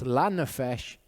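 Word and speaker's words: לנפש: so learn a fish actually with the right vowels it's lanafish means uncuts for the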